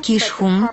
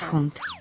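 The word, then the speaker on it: Keeshond: под прозвищем улыбающийся голландец многие неправильно произносят название их породы многие называют их шхун но правильно говорить Хун они дружелюбны лю обильные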